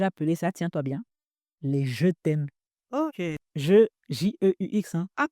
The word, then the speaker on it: jeux thèmes: J'ai appelé ça, tiens-toi bien, les jeux thèmes. Ok. Jeux J-E-U-X. Hein. Ah pardon, j'ai oublié d'applaudir. Bravo. Tu as quand même compris que ça se prononce comme je t'aime, la conjugaison du verbe aimer.